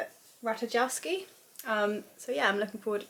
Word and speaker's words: Ratajkowski: Ratajkowski.